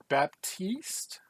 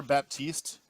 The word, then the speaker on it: Baptiste: We've got some Overwatch news, and I think we mentioned it before, but Baptiste, I believe that's how you say his name, Yes, Baptiste is a new hero coming to Overwatch.